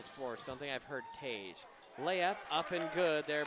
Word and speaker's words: Tage: Tage, spelled like you'd spell page, the name page, not the book page, with a T.